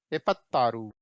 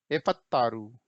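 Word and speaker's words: ಎಪ್ಪತ್ತಾರು: एपत्तारू, ये देखिए स्पेलिंग देखिए, ठीक है, कैसे पढ़ेंगे? एपत्तारू, ठीक है।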